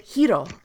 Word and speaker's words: Hiro: Like, in English you would pronounce it Hero, but she pronounces it Hiro. You I see? thought it was Like, like yeah, it's like a very soft roll on the R.